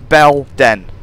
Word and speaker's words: Belen: It's B E L Den. Belen.